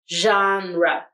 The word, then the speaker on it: genre: will have g-e-n here the g will make the sh the second syllable we have r e where the e will make the schwa sound genre genre genre now leave